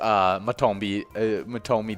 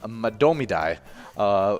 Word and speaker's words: Madomidai: Yeah, my guess when I first read it was Matomidai or whatever. I was pretty close to the common mispronunciation. But Madomidai is the way you say it. No mats or toes. No mats or toes, just all does.